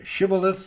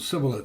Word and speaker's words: Shibboleth: So one was a Shibboleth, the other was a Sibboleth. The Ephraimites couldn't pronounce the SH in their language.